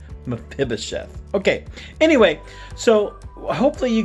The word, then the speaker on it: Mephibosheth: Now look, I've heard several pronunciations for this word, but since we're kids, we're going to keep it safe, and we're going to call it Mephibosheth.